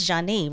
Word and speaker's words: Zhané: Well, let's talk about that pioneering album then, pronounced Zhané, released in 1994.